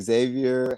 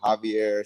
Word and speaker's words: Xavier: get all the time like I said Xavier Javier Shier it's it's all fine with me or just call me